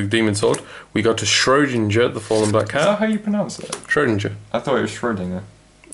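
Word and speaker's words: Schrödinger: Starts as the girl in Twilight garb, with Schrodinger's cat. It is supposed to have a dinger on the end.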